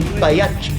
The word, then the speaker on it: Pagliacci: Time for the fat lady, Pagliacci. Actually, Dave, the proper Italian pronunciation would be Pagliacci.